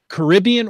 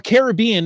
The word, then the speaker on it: Caribbean: hear about your recent Caribbean or Caribbean, it depends on how you want to pronounce it, geocaching cruise.